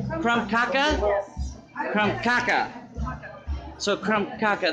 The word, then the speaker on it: Krumkaker: picture this is a from Cocker is that right from kaka kaka so crumb caca the R is silent from caca you just